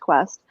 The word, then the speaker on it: KWST: It's KWST, but it's pronounced Quest.